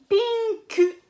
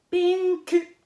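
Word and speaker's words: ピンク: Donc, en japonais, on va dire pinku. Pinku. Et on va prononcer le U.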